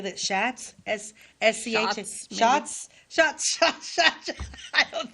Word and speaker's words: Schatz: Schatz? S-C-H? Shots? Shots. I don't think that's Schatz. I don't know. I don't think it's Schatz. I think it's like Shots. It's Shots.